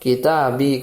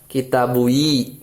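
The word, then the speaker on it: كتابي: Seperti pada contoh kitabi, kitab saya kan asalnya kitabun bukan kitabui gitu ya.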